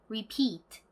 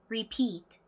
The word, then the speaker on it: repeat: 반복하다라는 의미의 이 단어도 끝에 강세가 오는 단어입니다. 따라해 보실까요? repeat. repeat 아니고요. 뒤에 강세 repeat.